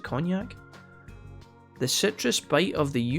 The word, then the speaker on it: cognac: con jack is homemade is a cognac is that how it's pronounced it's not con jack as it's a cognac the citrus bite of